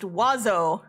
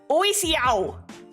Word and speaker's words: oiseau: Bird in French is pronounced oiseau. Yeah. You know how that looks like it should be pronounced? Oisiao. But you only pronounce like half of the letters.